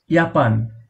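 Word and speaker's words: Japan: ইয়াপান, যার অর্থ জাপান। জাপান একটি দেশ, সেটা আমরা সবাই জানি, জাপানকে জার্মানরা ইয়াপান বলে।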